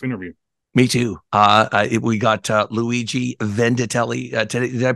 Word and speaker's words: Luigi Vendittelli: We got Luigi Vendittelli today. Did I pronounce that correct?